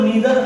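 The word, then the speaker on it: neither: है बेटा each, every, नाइदर, आइदर। बेटा ध्यान देना, नाइदर, आइदर को नीदर और इधर भी पढ़ा जाता है, ध्यान दीजिएगा, पढ़ने में उच्चारण में गलती मत कीजिएगा।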